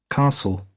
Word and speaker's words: castle: That's castle. castle in standard southern British English or RP received pronunciation.